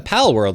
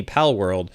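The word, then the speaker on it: Palworld: I mess it up yeah so it's a pal world so p a l o r l d pal world and so you know for any of you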